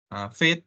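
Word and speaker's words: Vite: Sorry, ini bacanya bukan Fit ya, Fight ya, tapi Fit. Nah, Fit seperti Fit ini, nah, khususnya untuk front end.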